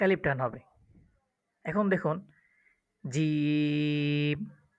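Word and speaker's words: جيم: এখন দেখুন জিম, জিমটা ৩ আলিফ টান হবে উচ্চারণের ক্ষেত্রে।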